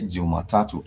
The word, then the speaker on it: Jumatatu: For Monday, we say Jumatatu, as you can see it here. For Monday, we say Jumatatu.